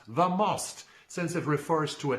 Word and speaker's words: The Most: national book award and yes it should be pronounced the most since it refers to a tactical tennis term